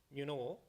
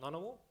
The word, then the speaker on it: Ngunnawal: I'll just make it clear, the reason I say Ngunnawal, it's the right way to say it, not Ngunnawal, because Ngunnawal is a white man's interpretation, and I want to move away from that.